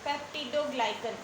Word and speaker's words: पेप्टिडोग्लाइकन: पेप्टिडोग्लाइकन ये इसकी प्रोनाउंसिएशन है।